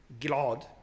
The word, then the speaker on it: Ghil'ad: For example, as I said, Ghil'ad becomes Ghil'ad. Ghil'ad is pronounced Ghil'ad. Different pronunciation.